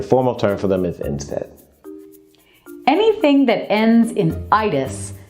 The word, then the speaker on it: NSAID: NSAID is how this is pronounced.